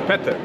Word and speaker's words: Petter: So I'm here with Peter. Is it Peter or Peter? It's Petter. Petter. So with the Swedish pronunciation.